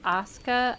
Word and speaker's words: ASKA: As far as I know, it's Asuka. I looked it up online cuz I was also curious if there was something special about it.